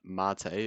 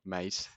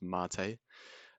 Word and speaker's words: MATE: website here so we've got cinnamon this is pronounced mate it's not mate it's actually a I believe it's a cocktail or something like that it's pronounced mate and xfce so these are different desktop environments